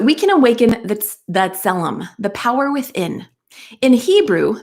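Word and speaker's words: tzelem: of the creator so we can awaken the zellum it's spelled t-z-e-l-e-m so that we can awaken that's that selem the power within in hebrew the word selem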